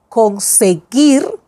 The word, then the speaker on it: conseguir: Gui. Conseguir. Conseguir. We don't say conseguir. Conseguir.